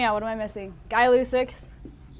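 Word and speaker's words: Gay-Lussac: what am i missing guy lucix it's pronounced guy by the way ideal i'm gonna do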